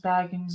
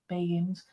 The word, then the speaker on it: Baggins: um Ghost Adventures exact Baggins is actually how it's pronounced as Baggins not begins um what I just